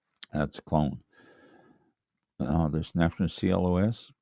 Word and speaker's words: Clos: clone now this na Clos pronounced CL okay that's French for you don't pronounce the S CL that is a